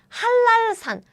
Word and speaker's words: 한라산: Remember, when ni은 meets 리을, ni은 changes to 리을 sounds as double L, like 한라산. So this one is 한랄산.